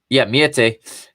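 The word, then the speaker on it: Meïté: It is Miete. I didn't want to mispronounce his name there.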